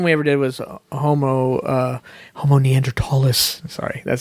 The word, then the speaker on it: Neanderthal: Not pronouncing his H's. So so I say Neanderthal, even though I have to think about that, not say Neanderthal.